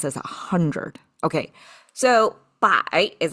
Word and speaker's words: 百: explains why does this a hundred okay so by is how it's pronounced simplified traditional looks exactly the same which